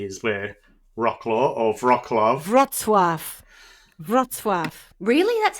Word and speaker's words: Wrocław: He was from the town of Wrocław, approximately 100 kilometres away.